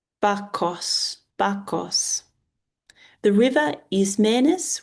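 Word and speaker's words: Bacchus: Sei or samilile s e m e l e is pronounced se uh sele bakus. Bakos Bakos the river is manus which I don't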